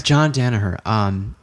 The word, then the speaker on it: Danaher: I can't pronounce his first name. Danaher? Oh, John Danaher. Yes. John Danaher.